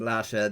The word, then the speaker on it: Lhasa: the capital of tibet well that is spelled differently l-h-a-s-a but would be the same pronunciation but no no the goddess has nothing whatsoever to do with lassa the capital of tibet